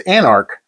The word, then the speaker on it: Anarch: It's just two syllables, DJ. It's anarch.